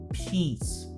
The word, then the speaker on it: peace: A palavra paz em inglês é peace. Sorrisão, tá? Esparrama bem a boca. Se você não usar a vogal aguda, aquela que a gente fala sorrindo, né? Peace. Você não vai falar paz. Você vai falar o verbo mijar. Piss.